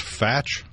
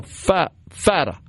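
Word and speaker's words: Fateh: Is it pronounced Fatch? No, Fata. Pardon me. Yeah. I think I mispronounced it.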